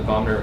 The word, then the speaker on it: vomer: the position for the vomer is slightly more posterior the vmer the vmer you're adding another syllable in there I thought it was